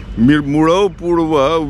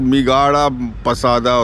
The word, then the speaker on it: Murau Purwa: Murau Purwa, which the Buddhists have mispronounced as Migaramatupasada or something like that.